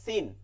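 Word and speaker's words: سين: যা নিচের দাতের আগার সাথে যা এরপরে সিন এটা কিন্তু অনেকে পারি সিন দিয়া দন্তস এর উচ্চারণ আমরা অনেক সময় করি দন্তস এর উচ্চারণ করি না যেমন নামগুলো দেখেন সাইদুল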